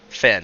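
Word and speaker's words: Fenn: the morrigan's finn morgan's like finn f-e-n-n finn f-e-n-n weird it's an irish word imagine that imagine that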